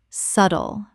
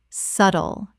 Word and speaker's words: subtle: Word 97 subtle Common mispronunciation subtle Correct pronunciation subtle The B is completely silent. Two syllables only.